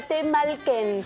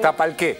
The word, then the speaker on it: Tapalqué: A Temalquén. Sí, Temalquén, sí. No, no, no. Era un pueblo que quería decir. Ah, ok. ¿Cómo se dice? Tepalquén, Temponquén, algo con Ken. Tapalqué. Tapalqué. Tapalqué, exactamente.